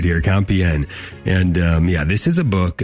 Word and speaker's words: Compiègne: Jim Havens here, talking with author Jonathan Michael O'Brien today, and his book called to Compiègne, getting the pronunciation right here, Compiègne.